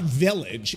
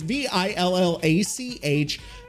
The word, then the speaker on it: Villach: It's not village. It's Villach.